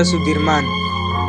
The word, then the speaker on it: Soedirman: Jenderal besar Sudirman menurut ejaan Suwandi dibaca Sudirman yaitu Ia merupakan salah